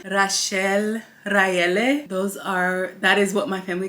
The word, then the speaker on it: Raele: My name is Rael, Rachel, Raele. That is what my family calls me. My American name is Riel. So if you can pronounce Rachel, Raele, Rael, you gotta roll the R.